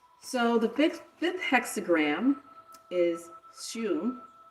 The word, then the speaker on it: Hsu: So the fifth hexagram is Shu. It's spelled HSU in the, how do you say that?